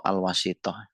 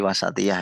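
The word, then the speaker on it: الوسطية: potongan-potongan kalimah yang penting alwasatiatu atau alwasitah Oh dia tadi wasatiah ya bacanya Ya kalau wasitah itu perantara alwasatiah moderasi Ayana intimauhu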